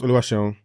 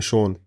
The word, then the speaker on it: Oluwaseun: So obviously my name is Oluwaseun, but when I came here when I was like 15, people didn't know how to pronounce Sean. They just called me Sean, Wow.